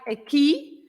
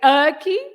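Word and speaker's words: aqui: what are those words the words that finish with an i like for example oh what was ending like a key you don't say erky you say a key like the past of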